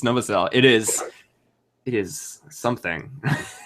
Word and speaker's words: Novosel: just so you know no it's it's noael it's novasel it is it is